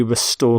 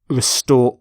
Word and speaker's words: restore: And we restore confidence. Restore order, that's a common collocation. Restore peace. Restore democracy. Note the pronunciation of restore, not restore, but restore.